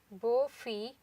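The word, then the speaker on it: Beaufille: a bell-bottom pant from bore fee for 2017 ready-to-wear collection baffi is the right pronunciation is a French word that translates to beautiful girl it is a Canadian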